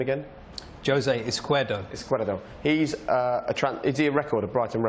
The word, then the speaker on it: Izquierdo: Izquierdo.